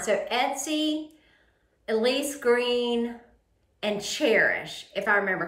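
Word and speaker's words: Chairish: look at a website called cherish and it's spelled like chair c-h-a-i-r-i-s-h um I would look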